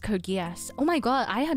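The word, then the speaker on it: Code Geass: Yeah, Code Leoko is pronounced Code Guas.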